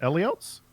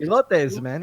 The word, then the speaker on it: elotes: How do you pronounce that? Eliotes? Elotes? Elotes, man.